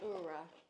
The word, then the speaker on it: Oura: That is definitely how you say it, Oura.